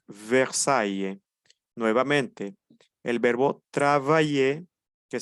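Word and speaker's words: Versailles: pronuncia e Mesón cemento Cuando tenemos a y seguido de una l o de dos l no pronunciamos e es una pequeña excepción Cómo pronunciamos pronunciamos a Y entonces tenemos ejemplo tenemos caballé tenemos ludby Y tenemos versaye nuevamente el verbo trabajé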